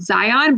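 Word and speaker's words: Xion: brought that in is called zion but it's spelled with an x um so i really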